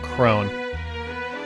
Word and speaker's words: crone: Bone, throne, own, crone.